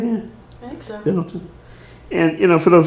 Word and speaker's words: Benetton: Benetton. And, you know, for those who may not know, it's an international clothing chain. And I'm like, we got a whole country. I'm sorry? Pendleton or Billington? Benetton, yeah.